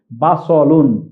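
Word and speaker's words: بصل: তাহলে শব্দটি আমরা, এটা কিন্তু এই যে দন্ত স লিখেছি, এটি সিন নয়, এটি সদ। এখানে আমরা দেখছি বা স, সদের উপর জবর রয়েছে, তাহলে আমরা উচ্চারণটি করব বাসলুন।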